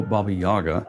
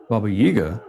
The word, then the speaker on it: Baba Yaga: Pronunciation of her name may vary depending on regional accents and personal preferences, though Baba Yaga is most common. However, Babaiga is also accepted.